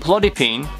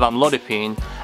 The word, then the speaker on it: amlodipine: of my favorite mispronunciations first I've got Lanzarote instead of longshot resolve and bloody pain instead of amlodipine and Lambie peeler which I call it the Italian version of saying ramipril which actually got me thinking